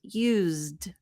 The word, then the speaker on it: used: that's not the sound it's the z sound so use becomes used you you you us